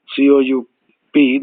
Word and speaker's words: coup: violent overthrow of authority like a coup c-o-u-p the P silent coup military coup uh m